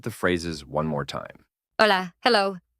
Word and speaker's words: Hola: Hola, hello. The silent H, ojla.